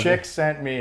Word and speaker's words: Csikszentmihalyi: I can pronounce his surname. Ooh. You know where I got that? It was in Dan Pink's book. I know. He actually phonetically spells it out. Right? I'm like, Chick sent me hi.